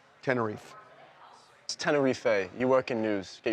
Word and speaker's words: Tenerife: I've always heard it as Tenerife, but I believe you that people there probably say Tenerife. Bullshit. It's Tenerife.